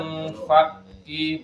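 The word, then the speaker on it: منفكين: Lam yakunil ladzina kafaru min ahlil kitabi wal musyrikina munfakin wal musyrikina munfaqina had munfaqi, bacanya munfaqi karena di situ kafnya bertasydid munfaqi.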